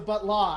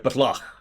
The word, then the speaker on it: Batla: It's the Butla. It's the Batla. Now you got to say it right, Batla.